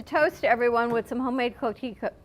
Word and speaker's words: coquito: And we're going to have to toast everyone with some homemade coquito. How do you pronounce it?